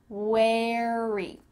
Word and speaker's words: wary: pronounce this word correctly wary it kind of sounds like where I'm wearing clothes where and then you just add a at the end wary if you're in the